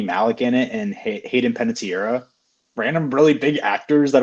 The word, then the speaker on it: Panettiere: That's not Panettiere? No. I think it's just Panettiere. Yeah, it's Panettiere.